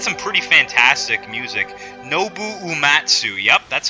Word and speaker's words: Uematsu: Nobu Uematsu, yep, that's how you pronounce it.